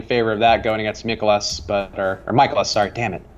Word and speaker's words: Mikolas: Well, I remember ever since Josh told me it's like Mikolas, like it's not Urkelis, it's Mikolas.